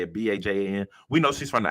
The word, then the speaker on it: Bajan: Bajan.